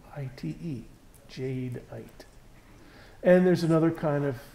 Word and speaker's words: jadeite: earth that we call Jade white and I'll spell that for you jad e ite Jade ight and there's another kind of jade called nephrite